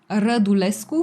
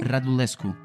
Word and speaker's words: Radulescu: How do you pronounce your surname? Radulescu. Radulescu.